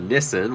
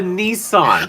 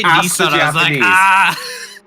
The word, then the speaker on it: Nissan: the same sentence is when you guys call it a Nissen when it's a Nissan so it's a Nissan I just heard you say Nissan ask the Japanese ask them how they pronounce it if they say Nissen I'll say Nissen but from now it's Nissan it's always Nissan don't you guys just